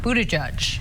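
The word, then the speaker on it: Buttigieg: last name a mere Pete's last name is pronounced of Buddha judge I think we all know that since we're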